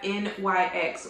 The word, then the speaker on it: NYX: sale as well then of course we have NYX or NYX one of you guys corrected me